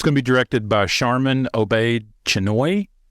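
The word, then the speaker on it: Sharmeen Obaid-Chinoy: gonna be directed by Charmin obey chenoy because that's how you say it uh now this is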